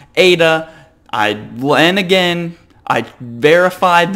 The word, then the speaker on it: Aida: the top like I said easy name to pronounce Ada I then again I verifi this name with